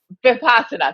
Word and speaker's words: Vipassana: Vipassana. Thank you. I always have a hard time pronouncing that.